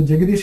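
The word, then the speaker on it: Jegadeesh: So Jagadish is spelled J-E-G-A-D-E-S-H.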